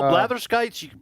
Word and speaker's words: blatherskite: Say it slowly. Blatherskite. Well, have you ever hear people blather on? Yeah, blather. It comes from that.